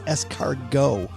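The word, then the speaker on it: escargot: And Doug, just before we start, it's escargo. Scargo.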